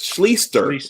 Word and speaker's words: Schlichter: And then finally, Wolf 58 says, Art Schlichter, pronounced Schlichter. I'm sorry. Schlichter, yeah.